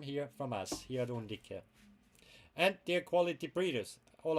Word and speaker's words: Undique: In Latin you pronounce it more like an Italian, like Undique.